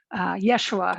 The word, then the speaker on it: Yeshua: word joshua yeshua yahushua yeshua is probably how it would be pronounced in in aramaic in the area at the time and so sometimes you